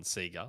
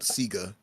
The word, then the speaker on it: Sega: and say properly but I'm not stopping on Sega like anyone who grew up in Australia knows that that's yeah Sega yes pronounced here yeah Sega themselves said it in